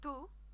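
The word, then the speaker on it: tú: The tu, the u, is meant to have an accent on there. That's meant to be stressed.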